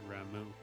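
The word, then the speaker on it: Ramuh: I think they have emphasis on the second. It's Ifrit and Ramu.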